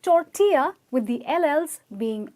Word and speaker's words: tortilla: not total err well it's definitely not total ER because BLL here is absolutely silent okay and the pronunciation is tour via and it's not to our ship it's tour here so yes it's tortilla which is made out